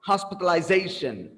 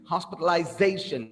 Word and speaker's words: hospitalization: before the last alright hospitalization hospitalization it's just the Z so again it's the